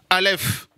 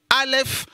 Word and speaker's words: aleph: quand vous le savez aleph est une lettre muette comme le h ne en france est d'accord voilà ça ne se prononcent pas c'est une lettre invisible comme le créateur il a tout créé non le voit pas ça c'est la leffe alléluia wahou seigneur vous